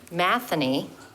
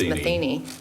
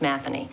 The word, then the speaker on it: Matheny: I attended the board meeting for Boulder Mountain Community with Tyson Matheny. That's the Irish pronunciation. Most know him as Matheny, but he said he goes by either one, but it's Irish and it's Matheny.